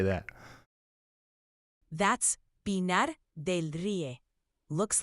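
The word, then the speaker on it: Pinar del Río: That's Pinar del Rio.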